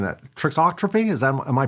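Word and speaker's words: thixotropy: Uh how do material properties such as viscosity trixotropy and if I'm pronouncing that trixotropy is that am I pronouncing that right? Fixotropy.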